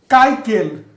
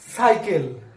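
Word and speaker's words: cycle: কাইকেল না, এটা সাইকেল।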